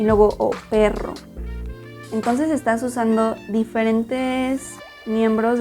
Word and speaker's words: perro: Primero la P, juntas los labios, luego la es como un poquito cerrada, y luego la R, cómo mueves la lengua.